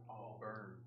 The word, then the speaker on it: Auburn: 1999 I I said auburn the other day in front of Scott Seth and he was like you're mispronouncing Auburn Auburn University say it Tanner Auburn Auburn yeah I put another R in there when I say it